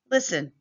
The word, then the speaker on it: listen: Sometimes the letter T is silent. List and listen fast and fasten fasten the seat because it's the law.